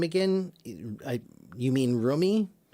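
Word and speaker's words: Rumi: I You mean Roomie? I believe it's pronounced Roomie. I'm not certain of that, but that's what I've heard.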